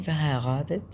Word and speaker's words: verheiratet: أنا بحب أنطق الار غين يعني، فتبقى فا هاي غاتت. فا هاي غاتت. فا هاي غاتت يعني متزوج. هل حضرتك متزوج؟ sind sie verheiratet.